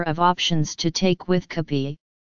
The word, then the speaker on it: kape: Filipinos have a number of options to take with kape, which is the Filipino pronunciation of cafe, breads and pastries like pandesal, ensaymada, hapia and empanada.